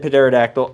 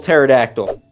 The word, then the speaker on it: Pterodactyl: Yeah, I know I said Pterodactyl. I don't care. I know the P is silent.